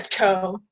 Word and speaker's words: Cho: Chu. Am I saying your name correctly? Yeah, Cho, but. Oh, okay. No, Cho. Let me say it correctly. Cho.